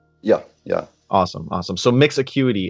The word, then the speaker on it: Mix Acuity: So let's talk about is it Mix Acuity? Is that how you pronounce it? Yeah, yeah. Awesome, awesome. So Mix Acuity, how does it work, and what is the